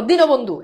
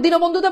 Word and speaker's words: দীনবন্ধু: এবার বলো দীনবন্ধু, এখন দীনবন্ধুতে বলো এটা কি রসই হবে? না, উচ্চারণ কিন্তু দিনবন্ধু না, তোমরা অনেকে উচ্চারণ করো দিনবন্ধু, এটা কিন্তু দীনবন্ধু।